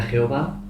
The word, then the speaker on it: Yahvé: Entonces hoy en día, al darle vocales, pues una forma de pronunciarlo sería Jehová y otra forma sería Yahvé. Yahvé, ¿no? Pero realmente no sabemos cómo se pronunciaba.